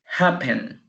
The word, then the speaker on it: happen: ustedes sólo en papel la el acento se escucha en la primera sílaba happen apple ahí se